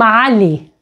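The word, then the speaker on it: علي: Now, another option is that it is pronounced as E. For example, the masculine name Ali, Ali, Ali.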